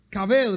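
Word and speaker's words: כָּבֵד: Kaved, los que escriben, se escribe K-A-B grande E-D, kaved, que significa dar peso, dar valor, dar prestigio a alguien.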